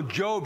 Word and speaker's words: Job: Did you lose your job? No, Job.